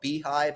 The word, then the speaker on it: Beehiiv: So there's an app that is called Beehive. It's spelled weird though, like Beehiiv.